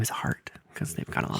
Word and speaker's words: Hart: their last name is Hart. Cuz they've got a lot of heart. Heart, you guys. Cuz they got But it's H A R T. You have to say it like heart.